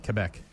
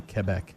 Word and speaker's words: Quebec: Quebec. Sorry. The qu is American. You got to say Quebec.